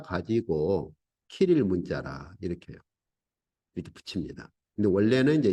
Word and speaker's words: 키릴 문자: 그래서 뭐 어떤 분은 뭐 시릴 문자라고도 발음하는 분도 계시던데 키릴 문자죠.